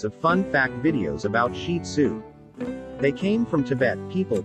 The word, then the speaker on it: Shih Tzu: The Shih Tzu, pronounced Shih Tzu, is one of the most popular dog breeds in the United States.